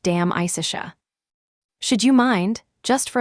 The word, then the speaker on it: De Amicitia: We've finished Livy and De Senectute and are now engaged with De Amicitia, pronounced Dam Isicia.